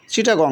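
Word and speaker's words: Chittagong: ভালো লাগতেছে এবং সবাই এটা উচ্চারণ করতে পারবে উচ্চারণের সুবিধার জন্য এই বানানগুলো পরিবর্তন করা হয়েছে এখন তারপর চট্টগ্রাম চট্টগ্রাম আগে কিরকম ছিল চিটাগং ছিল সি এইচ এ সি এইচ I double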